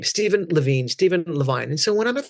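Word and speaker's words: Stephen Levine: Steven Levine is how he pronounced it was the foremost author on death and dying in the 80s and 90s along with Elizabeth Kubler Ross.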